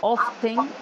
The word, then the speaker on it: often: Remember the letter T is not pronounced often.